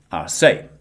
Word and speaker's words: Arce: This week, I have the pleasure of being joined by Marizelle Arce. Am I pronouncing Arce right? Arce, yeah, perfect. Arce. I was close.